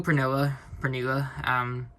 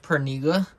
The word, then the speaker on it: Pernilla: So we know Pernilla. She said to us that her name's quite flexible. It's pronounced Pernilla, so it is, but she's flexible, Pernilla.